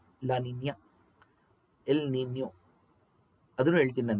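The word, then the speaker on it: La Niña: ಯಾನೋಸ್ ಆಯ್ತಾ ಹಂಗೆ ಸ್ಪಾನಿಷ್ ಪದಗಳಿದೆ ಸ್ನೇಹಿತರೆ ಎಲ್ ನಿನ್ಯೋ ಲಾನಿನ್ಯ ಎಲ್ ನಿನ್ಯೋ ಅದನ್ನು ಹೇಳ್ತೀನಿ ನಾನು ನಿಮಗೆ ಎಲ್ ನಿನ್ಯೋ ನೋಡಿ ಆ ಪದಗಳ ಉಚ್ಚಾರಣೆನೇ ಗೊತ್ತಿಲ್ಲ ಎಷ್ಟೊಂದು ಜನಕ್ಕೆ ಎಲ್ಲಾ ಎಲ್ಲಿನೋ ಅಂತಾರೆ ಎಲ್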